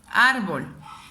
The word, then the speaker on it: árbol: si se acentúa árbol donde suena más mi voz árbol la separó en sílabas árbol y pongo última y penúltima sílaba entonces aquí me doy cuenta donde elevó más o dónde está la sílaba tónica árbol me doy cuenta que es la primera sílaba por consiguiente es una